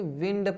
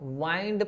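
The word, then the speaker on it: wind: पास या नियर वैसे इसको अगर आप पढ़ेंगे विंड पढ़ रहे हैं। विंड क्या पढ़ रहे हैं? विंड ऐसा करके विंड मतलब इसका मतलब क्या हो जाएगा? हवा। विंड। अब यही स्पेलिंग है। अगर आप इसमें आप वाइंड पढ़ रहे हैं। वाइंड ऐसा वाइंड करके तो इसका मतलब क्या हो जाएगा? इसका मतलब हो जाता है मोड़ना या घुमाना हो जाता है।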